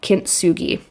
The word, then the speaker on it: kintsugi: i actually had to really practice how to pronounce it so now the last thing is called kintsugi have you heard of this you might have heard of this without knowing what it is maybe okay so kimsugi is the japanese art of repairing broken pottery